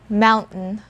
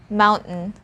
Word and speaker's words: mountain: i love this next word mountain one more time mountain when you check this word using a dictionary